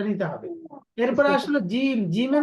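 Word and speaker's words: ج: করবেন কোন সমস্যা নাই জিমটা যখন বলবেন জিমটা কিন্তু শক্ত জিবার মধ্যকার উপরের তালুর সাথে লাগিয়ে এটা হলো মাখরাজ তো মাখরাজটা আলাদাভাবে আসতেছে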